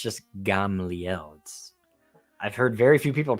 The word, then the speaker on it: Gamliel: But of course, Paul's rabbi was the legendary Gamaliel, which was the Gamliel. I know it's just a pronunciation thing, and we shouldn't hark on people for mispronouncing words, but it always does get me.